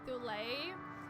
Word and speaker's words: Thule: Now I think Thul is supposed to be pronounced Thule, but most people I think pronounce it Thul. Rhyming with full, rhyming with full.